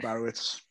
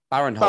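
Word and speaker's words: Barinholtz: And I really like Ike Barowitz. I think he's really funny. Who? Is it Ike Barowitz? How do you say his name? Baron Holtz.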